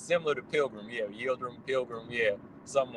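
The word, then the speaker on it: Yıldırım: Yeah, it's like Yildirim. It's similar to Pilgrim. Yeah, Yildirim, Pilgrim. Yeah, something like that. Yeah. Yeah, his name definitely rhymes with Pilgrim, though. Yeah. Yeah, Abdi Yildirim, that's his name, but yeah, it does sound like Pilgrim.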